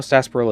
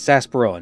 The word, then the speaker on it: sarsaparilla: Also, I hate how sarsaparilla is spelled. Everybody says sarsaparilla, nobody says sarsaparilla.